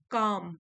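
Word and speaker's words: calm: Next है stay काम। L silent है।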